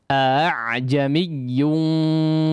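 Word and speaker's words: أأعجمي: hamzah secara sempurna, tapi hamzah yang kedua ini dibaca secara samar saja, yaitu diucapkan antara suara hamzah dengan alif ya. Cara bacanya kurang lebih seperti yang tadi kita praktekkan. A'jamiyyun wa arabi.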